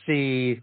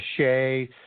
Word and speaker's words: Sidhe: And if you look at a picture, if people were to Google it, it's called The Riders of the Sidhe, or the Sea, or the Shay. It's spelled Sidhe.